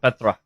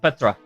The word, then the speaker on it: Petra: I am slightly annoyed and sad they don't pronounce her name Petra. I always said Petra.